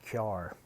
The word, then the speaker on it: Carr: Now understand, I'm going to say car different. I'm going to say Kyar.